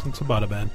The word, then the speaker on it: Abbottabad: Is it Abbottabad? Abbottabad. I'm saying that totally wrong, I'm sure. No, it's Abbottabad.